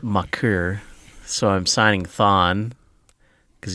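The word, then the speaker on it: Thon Maker: that's more seen walnuts it's pronounced mucker so I'm signing Thawne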